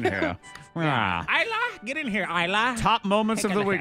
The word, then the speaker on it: Isla: Isla, get in here, Isla. Top moments of the week. The S is silent because we can afford extra letters.